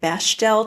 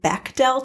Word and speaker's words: Bechdel: ahsoka yes okay i'm a little embarrassed i pronounced it bechdel test for most of my life and last week i found out it's pronounced bechdel test so i'm mortified but the bechdel test